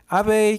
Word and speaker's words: abeille: abeille که الاش هم تلفظ نمیشه یعنی زنبور.